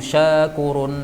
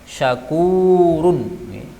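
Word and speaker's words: شكور: Wallahu syakurun halim. Yang panjang itu bukan shinnya, tapi kafnya. Syakurun. Jadi bukan syakurun, salah.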